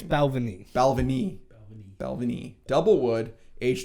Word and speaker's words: Balvenie: but it's so it's Balvenie right yeah you kept saying Belleville Valvoline now it's Balvenie Balvenie Balvenie double wood